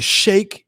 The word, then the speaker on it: Sheik: the sheik or the shakes whatever from ecw yeah you say it's pronounced shake but whatever the shake